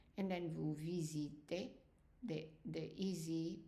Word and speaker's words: visitez: And then vous visitez, the EZ pronounced as an A.